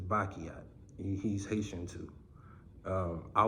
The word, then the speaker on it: Basquiat: would definitely say him people always get his name wrong they say Basquiat is bakiat he's Haitian too um